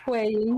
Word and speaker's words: HuiYing: gonna be falling around HuiYing. If I can say it right. HuiYing. HuiYing. Just stick with the word way, like weighing. Wayne. So HuiYing. Yeah. So the word weighing, but just say HuiYing.